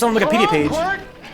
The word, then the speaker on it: Quirt: Quirt. His name is spelled Q-U-I-R-T. Sure as something. Q-U-I-R-T. Kurt It's like, Evans? who spells Kurt that way?